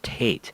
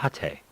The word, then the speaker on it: tate: fact I learned that tape mode is not pronounced Tate it's pronounced at a mode that actually makes more sense now being